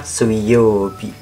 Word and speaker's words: 水曜日: Ini bacanya Suiyobi. Sui.